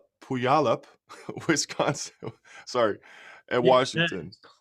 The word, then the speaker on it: Puyallup: Listen, so it's Puyallup. My wife in public called it Puyallup.